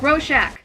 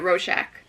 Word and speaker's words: Rorschach: was him rorschach's journal roshack that's how you say it roshack 1985 cool cool dog